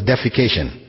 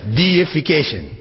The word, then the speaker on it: deification: that word in English please don't pronounce it as defecation right because that has a whole different meaning altogether it's deification which means making something